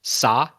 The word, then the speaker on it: Sa: he's talking to there is Sa, the British pronunciation of sir, like yes sir kind of thing.